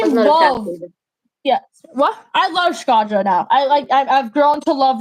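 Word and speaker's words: Shkodra: When it comes to Skadra, I love them. At first, I pronounced the name Skorda, and I was like, I butchered that for a straight up month.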